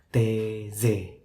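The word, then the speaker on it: Taizé: Tulisannya sih T-A-I-Z-E, tapi bacanya TZ.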